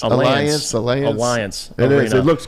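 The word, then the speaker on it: Allianz: the best in the world is how you pronounce it Alliance Alliance Alliance it is it looks gorgeous one of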